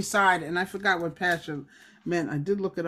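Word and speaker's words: Pashhur: So it looks like P-A-S-H. That's why I pronounce it Pasher.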